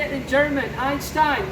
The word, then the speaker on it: Einstein: Einstein, right?